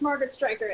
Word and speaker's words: Margaret Striker: to express your platform am i pronouncing your name correctly um it's margaret striker and i am just